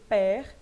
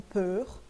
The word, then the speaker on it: père: pessoa é père, P-E-R, então eu vou pronunciar esse R, porque père, vou deixar o E aberto e não peur, ok? Vou deixar aberto porque termina em ER, e vou pronunciar esse R porque o père é uma sílaba só, tudo bem?